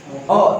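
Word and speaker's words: を: kerja transitif ditunjukkan oleh partikel o. Tulisannya adalah wo. Ya, ini adalah huruf wo, tapi dibacanya adalah o.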